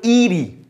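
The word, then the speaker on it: eerie: পারে এই ওয়ার্ডটার মিনিং চলে আসতে পারে এটার উচ্চারণ ব্রিটিশরা করে ইয়েরি আর আমেরিকানরা করে ইরি যেকোনো একটা তোমরা করতে পারো ইরি অ্যাটমোস্ফিয়ারও বলতে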